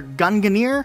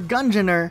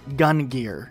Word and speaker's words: Gungnir: can all agree that this helmet is either Gungnir or Gungnir, but it's definitely not Gungear.